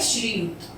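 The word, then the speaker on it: श्रीयुक्त: व वापिस श्री युक्त इसका सही उच्चारण होता है श्री युक्त त्रिवेदी तो हम इसमें तिर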